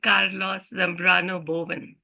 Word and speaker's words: Carlos Zambrano Boven: a wonderful person who I met recently called Carlos Zambrano Boven I hope I pronounced your name correctly Carlos yes you did